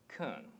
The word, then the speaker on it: can: pronounce this word well if you need to put emphasis on the word then you'd pronounce it can and this is probably the pronunciation that you are most familiar with but actually the more natural to pronounce it is ken so why is it